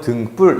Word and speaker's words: 등불: 그래서 표기는 등불이라고 하지만 발음은 등불 이렇게 하게 됩니다.